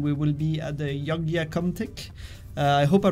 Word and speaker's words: Yogyakarta: It's Yogyakarta. That's how the city is called. That's the name, Yogyakarta.